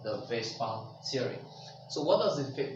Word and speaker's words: VSEPR: However, it is spelled F-V-S-E-P-R. It is called Vespa Theory.